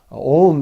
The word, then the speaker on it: Om: Om is a one syllable of a mantra.